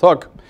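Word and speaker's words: Huk: insurgency known as the Hook Rebellion, H-U-K, but pronounced Hook.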